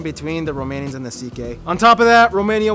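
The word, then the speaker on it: Székely: Yes, that's how you pronounce it, Sikh.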